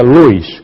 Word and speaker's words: Lewis: de ellos acné ccs se escribe lewis se pronuncia luis y la señora bentley